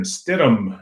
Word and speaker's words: Stidham: you know Jarrod Stidham Stidham I guess is the way you pronounce it the young backup quarterback